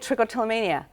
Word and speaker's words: trichotillomania: you said it right I did you did trichotillomania it just rolls off my you did it